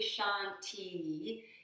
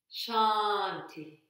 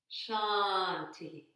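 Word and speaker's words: शान्तिः: at the end so it's not really shanti it's more like shakti and and with this little letter at the end it indicates a kind of aspirated sound at the end so really the pronunciation of this word something like shanti shanti shanti try that and again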